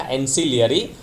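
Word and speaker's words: ancillary: एंसिलियरी circuit में आपको क्या दो चीज़ें ऐड करनी है, मैंने बोला एस से याद रखना, सी के, लेकिन एस की तरह प्रोनाउंसिएशन याद रखना, एंसिलियरी।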